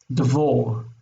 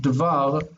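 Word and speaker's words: דְּבַר: Devor. We don't want devor, we want devar, and so it stays as patach.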